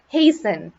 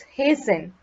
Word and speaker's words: hasten: to move quickly observe that the way you pronounce this word is hasten the d is not pronounced it's hazen merely merely means only as described and nothing